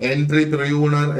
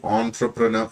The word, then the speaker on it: entrepreneur: ഇതിനെ എന്റർപ്രൂണർ എന്നൊന്നും അല്ല നമ്മൾ പറയേണ്ടത്. ഈ ഒരു വാക്ക് ഏകദേശം അതിന്റെ ഒരു ഉച്ചാരണം വരുമ്പോഴത്തേക്ക് ഓൺട്രപ്രനർ എന്നാണ് അതിനെ പറയുന്നത്.